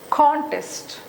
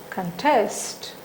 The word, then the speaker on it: contest: Okay, this one, contest, this is contest, contest. When you are giving stress on the second syllable, the first syllable is reduced, the length of a first syllable is reduced.